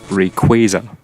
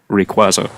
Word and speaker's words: Rayquaza: It's pronounced Rayquaza, not Rayquaza, as you may be led to believe. I believe it's got something to do with quasars, which is something to do with the ozone layer or something. Something to do with the sky, at least.